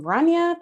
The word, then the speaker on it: Rania: I'm Rania, pronounced like Tanya. That's the easiest way to kind of remember my name.